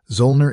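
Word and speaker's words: Zöllner: Readers aside, Zolner is spelled Z O L N E R Zner.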